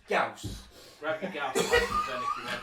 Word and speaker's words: Gauss: Grab your gas rifles. Get what? It's pronounced Gauss.